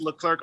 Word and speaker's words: LeClerc: there on instagram it's leclark leclerc is spelled with all c's uh no k's in that name and hopefully you can